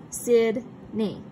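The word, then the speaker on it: Sidney: a pause okay so for example my my first name sid knee it's two syllables okay we hear a space in between sid and knee okay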